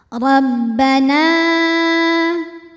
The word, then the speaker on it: Rabbana: membacanya ro ditebalkan Rabbana nah hukum tajwidnya adalah Mad Jaiz munfasil karena ada Mad thi'i ketemu dengan Hamzah dalam dua kata mad thiinya adalah Alif didahului fathah pada kata pertama yaitu Rabbana hamzahnya yang a pada kata kedua yaitu anzil maka cara baca nunnya adalah dipanjangkan boleh empat boleh lima harakat Rabbana anzil an ada